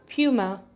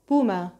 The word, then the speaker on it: Puma: بس هي اصلها الماني، فيفضل انها تنطق زي الامريكان فتنطق بوما بوما بوما.